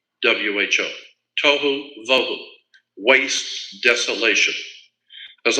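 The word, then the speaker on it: בֹהוּ: Vohu would be Voewho, tohu, vohu, waste, desolation.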